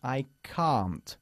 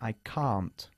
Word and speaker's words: can't: Nosotros, los británicos, tendemos a decir I can para el afirmativo. Sin embargo, cuando expresamos este verbo en negativo, decimos I can't. El mismo sonido que nuestra palabra casi para coche.